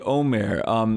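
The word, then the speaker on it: עומר: So it's spelled with an ayin in Hebrew, and it's Omer. And it refers to this measure of barley, this agricultural counting that happens. But what's funny is that if you say Omer typically and it's spelled with an aleph, it means to talk, basically.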